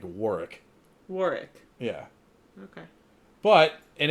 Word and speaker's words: Warwick: w a r r i c k like wari wari yeah okay but in his name is spelled w a r w yeah I I